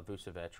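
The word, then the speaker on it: Vučević: Blake Griffin, and Nikola Vucevic, right?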